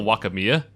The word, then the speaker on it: Wakamiya: Hello, Wakamiya. So, someone in the thread called me out. I was indeed pronouncing it wrong.